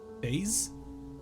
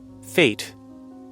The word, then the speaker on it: fetes: Fate. Fate. It's literally just fate. Just have it spelled F-A-T-E, you nerd.